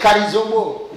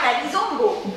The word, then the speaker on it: Karizombo: Et tu prononces beaucoup mon nom, c'est pas bon. Pourquoi? C'est Karizombo. Ah, Karizombo.